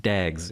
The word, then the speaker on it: DAGs: directed acyclic graphs dags so this is pronounced dags and so I'll be